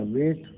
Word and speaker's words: weight: ठीक है, और इसी तरीके से देखिए यहाँ पे GH का वेट, वेट मान से वजन, तो WEIT, वेट हो सकता था लेकिन यहाँ GH भी लगा हुआ है, साइलेंट है।